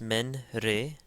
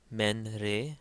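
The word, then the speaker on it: ⲙⲉⲛⲣⲉ: Once again, we pronounce each syllable. So in this case, it's men re, men re, men re.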